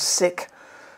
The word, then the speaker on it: sic: knowledge i put it whatever that latin indicator is pronounced as sick there should be a